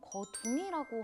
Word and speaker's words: 거둥: 국왕 거둥이라고 하는군요. 저는 거동이라고 하는 줄 알았습니다. 익숙하지 않은 말이네요. 거동이라는 표현도 틀린 말은 아닙니다. 한자로는 거동이라고 적고 거둥이라고 읽는 것이기 때문입니다.